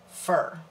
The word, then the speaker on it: Fur: My name's pronounced, first name Fur, last name, as in like a furry animal, beast, whatever.